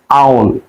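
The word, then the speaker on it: owl: এখন যদি বলি পেশা দেখতে কেমন, পেশার ইংরেজি হচ্ছে আউল, আমরা বলি ওল, সঠিক উচ্চারণ হচ্ছে আউল।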